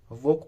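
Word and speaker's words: walk: He took his डॉग फॉर ए वॉक, देखो वाल्क वाल्क नहीं पढ़ते इसको, ठीक है, वॉक पढ़ते हैं, एल साइलेंट रहता है।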